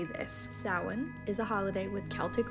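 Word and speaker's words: Samhain: pissed off videos telling you how to pronounce sin I have no idea why people are so mean on the internet so let me be the nice video to tell you that it is pronounced sa in sa sa is a holiday with a really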